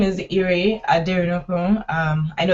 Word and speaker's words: Ire Aderinokun: okay so as they've said my name is Irie I dare no room I know it's quite difficult to pronounce but I'm gonna be talking about how